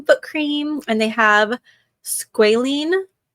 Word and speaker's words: squalene: But yeah, they have hand cream, foot cream, and they have squalene like oil, but not the kind from sharks.